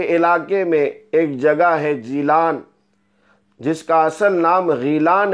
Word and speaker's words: جیلان: کا مقام آپ کا غیلان ہے۔ چونکہ عربی زبان میں لفظ گاف کا تلفظ نہیں ہوتا ہے، اس لیے جیم سے بدل کر اس کو جیلان کہا جاتا ہے۔ آپ کی ولادت 471